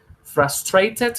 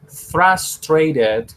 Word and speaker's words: frustrated: Frustrated con T o podemos decirlo frustrated con R.